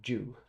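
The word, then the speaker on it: Zhou: That's the name of the famous Chao dynasty, pronounced as if written Ju, and sounds just like the English name Joe.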